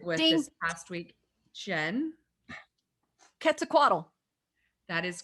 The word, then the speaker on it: Quetzalcoatl: Quetzalcoatl. That is correct. Yes. It is a ket sound, not a quet.